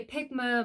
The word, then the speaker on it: Pigma: It's a Pigma Micron pen.